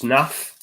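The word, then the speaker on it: Knauff: White Peacock coming late at the party said Knuff is produced Naff. So is it a silent K?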